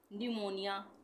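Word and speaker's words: pneumonia: इसी तरह से न्यूमोनिया, न्यूमोनिया में पी साइलेंट है, न्यूमोनिया।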